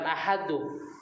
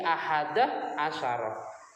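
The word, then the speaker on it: أحد عشر: Ini cara bacanya ahada asyar ya, bukan ahadu tapi ahada asyar.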